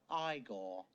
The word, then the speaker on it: Igor: this point you must be igor now it's pronounced igor i have a slight phobia of eyes i